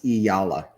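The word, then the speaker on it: Eala: Anthony, it's pronounced as Iyala.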